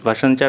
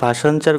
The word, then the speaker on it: ভাসানচর: ভাসানচার island যেটা কিনা এখন নিউজে চলছে, সেটা কোন দেশে অবস্থিত? প্রথমেই বলে রাখি, এই যে ভাসানচার কথাটা বলেছি, বেসিক্যালি এর প্রোনাউন্সিয়েশনটা এরকম নয়। এটা ভাসানচার নয়, এটা ভাসানচর। এটা হচ্ছে ভাসানচর শুনেই বুঝতে